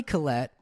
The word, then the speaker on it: Kollet: him on Instagram or YouTube and and Colette is joining us here on chasing birdies my